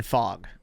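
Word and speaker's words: Fogg: Oh, I thought you meant like at the time it's Dean Fog.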